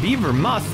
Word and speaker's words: Beavermoth: Team B works that I was right the first time Beaver moth is how you pronounce it sponsored by chicken rings